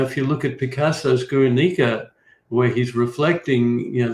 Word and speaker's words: Guernica: um you know if you look at picasso's guernica where he's reflecting you know the most horrible